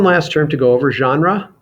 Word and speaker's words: genre: term to go over genre it's pronounced that way that's sort of a it comes from french so we pronounce it genre in english which is almost the way the french say it it's related to words